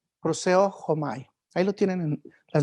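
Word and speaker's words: προσεύχομαι: La palabra original en el griego es una palabra así difícil de pronunciar, proseu homai. Proseo homai.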